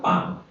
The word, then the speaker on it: palm: Let's say palm. Human beings, palm is a PLM. So the L is a silent.